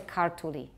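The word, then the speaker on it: ქართული: So if the word is, for example, we would like to say kartuli. That's the word for Georgian, kartuli. But say kartuli and you're safer. Just put the stress at the beginning.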